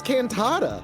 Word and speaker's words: cantata: What the fuck is cantata? I wanted it would've to gone rhyme with with critters.